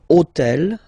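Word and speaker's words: hôtel: took on purpose this hotel okay because it starts with Ash but remember that in French we don't pronounce Ash okay so basically the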